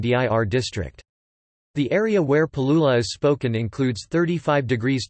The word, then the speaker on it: Palula: Palula is pronounced as pa-lu-la acute, with three long vowels and a rising pitch on the final syllable.